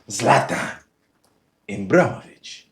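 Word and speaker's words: Zlatan Ibrahimović: I know how to pronounce his name. Zlatan Imbraovich.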